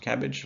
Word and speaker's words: CABG: cabg often called cabbage it's pronounced cabbage like the vegetable no one likes uh but cabg stands for coronary artery bypass graft and surgeons actually pronounce as cabbage they'll say cabbage uh